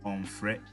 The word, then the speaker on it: onfre: To make this negative, we use a double M and pronounce it as onfre.